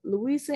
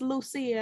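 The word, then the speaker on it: Lusia: just do it uh louisa harris only woman ever drafted into the nba dead at 66. now that is young what happened to louisa even though it's lucia and i'm pronouncing her name wrong guy wrestler lucia i'm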